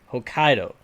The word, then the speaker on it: Hokkaido: I just wanted to make sure I was pronouncing that right Hokkaido in Japan one night she was attacked by